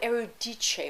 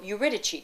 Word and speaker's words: Eurydice: he loses his beloved erudice or eurydice depending on how you pronounce her name she is